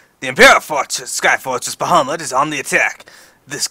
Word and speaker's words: Bahamut: just so you know I really hate how they pronounce bahamut in this it's keep going at bahama mouton I'm like no anyway so first things